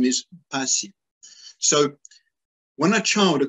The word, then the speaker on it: Mpasi: Yeah, pasi. Pasi is a very common word in Lingala and Congo. And there's lots of people whose name is pasi.